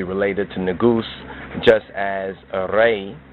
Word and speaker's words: Re: to Negus, just as Re, which is mispronounced as Ra, is not etymologically related to Ras.